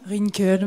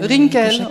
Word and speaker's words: Rinkel: Rinkel, mais Rinkel, ok, plutôt à l'allemande.